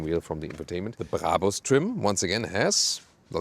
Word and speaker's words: Brabus: By the way, listen and repeat. Brabus. It's not Brabers or something. The original German pronunciation would be Brabus. Really hard German pronunciation.